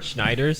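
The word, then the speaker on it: Schneiders: Schneider.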